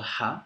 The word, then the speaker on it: ه: It's called ha, and is pronounced just like the English letter H, but it has 3 distinct forms depending on where it is in a word.